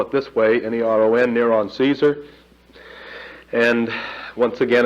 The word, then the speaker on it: Neron: If you spell it this way, N-E-R-O-N, Neron Caesar.